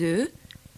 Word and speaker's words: œufs: The pronunciation changes in the plural. It's un œuf, but deux œufs, trois œufs, and so on.